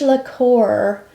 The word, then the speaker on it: lacquer: It's the new Rouge Lacquer. I keep saying liqueur. It's lacquer. lacquer or lac.